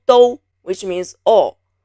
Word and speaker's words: 都: The 声母 is 的 o 都, which means all. Avoid pronouncing it as dao. It is 都.